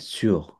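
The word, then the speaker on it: sous: এরপরে আসি আমরা সু, এটা হচ্ছে সুর, আর এটা হচ্ছে সু, এস ও ইউ এস, এসটা উচ্চারণ হবে না লাস্টের, এটা হচ্ছে সু।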